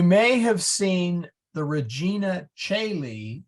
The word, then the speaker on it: caeli: All Caeli, A-E, Caeli, O-E, and Caeli, just straight E, were all pronounced the same.